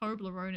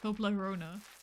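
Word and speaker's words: Toblerone: I also learned that it's not pronounced tolerone. It's pronounced Toblona.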